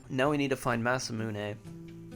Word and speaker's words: Masamune: Is it Masamune, or it has to be Masamune because it's Japanese. They wouldn't not pronounce the E.